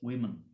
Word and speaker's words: women: the pronunciation different pronunciation when woman become plural at the time it is pronounced as women remember this so men